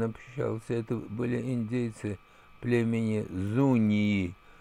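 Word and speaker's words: Zuñi: Это были индейцы племени Зунии, если писать латинскими буквами, то это будет Z-U-N-tilde-N, как оно пишется по-испански, да, то есть такая волнистая черточка на дно, и потом I, Зуни.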